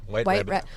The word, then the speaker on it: wht.rbbt.obj: So for those Google searching, wht.rbbt.obj. Yes. Yeah, that's you got it. White Rabbit. We've been called White Rabbit Objective so many times, or